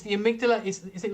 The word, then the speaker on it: amygdala: And on your bio, you mentioned, now tell me if I'm pronouncing this right, that you're a big, is it amygdala fan? Is it Amygdala.